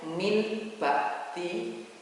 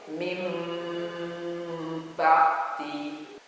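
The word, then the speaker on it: مِن بَعْدِ: Tulisannya itu min ba'di, tapi cara membacanya itu mim ba'di.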